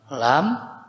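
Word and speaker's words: لام: Ini bacanya alif lam mim.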